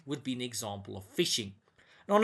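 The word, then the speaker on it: phishing: fish fishing and farming now fishing yes you do spell it like that it's not a spelling mistake guys you actually get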